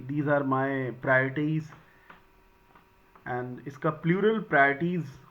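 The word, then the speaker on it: priorities: और इन दोनों में प्रोनाउंसिएशन का बड़ा खेल है। एक वर्ड है प्रायोरिटाइज और एक वर्ड है प्रियोरिटीज। तो दोनों के प्रोनाउंसिएशन की आप प्रॉपर प्रैक्टिस करिएगा। This is प्रायोरिटीज and this is प्रायोरिटाइज।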